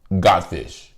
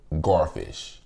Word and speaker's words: garfish: We had, in Louisiana, we pronounce it godfish. Well, in other states, y'all pronounce it garfish.